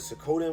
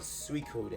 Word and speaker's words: Suikoden: the game called suikoden i used to call it sakotan when i was kid but his ex called suicude and i think that i think that's how you say it too but i'm just